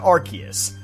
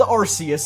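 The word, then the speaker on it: Arceus: made the last minute decision to change the pronunciation to Archus. So, don't worry, it wasn't the Mandela effect. It actually was called Arus initially.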